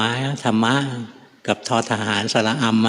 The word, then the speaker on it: ธรรม: ทธ ธง ร เรือ 2 ตัว ม ม้ ธรรมะ กับ ทธ ทหาร สาระ อำ อ่ะ ต้อง ทำ